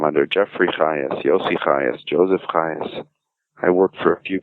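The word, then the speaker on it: Chajes: my name is yossi Hayes well I should say that's one of my names because uh you can't probably spell the name just from hearing it so I should tell you it's spelled c-h-a-j-e-s the only place I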